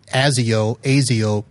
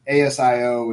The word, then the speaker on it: Asio: I think everyone says ASIO different. Is I think I've asked this before of somebody and they didn't know. Is there an official pronunciation? There is. It's with a Z.